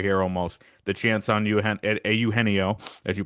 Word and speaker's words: Eugenio: I just think the more time that goes on, as we get into February here almost, the chance on Eugenio, as you pronounce it, as it's supposed to be pronounced, is better than it was a couple weeks ago, a couple months ago.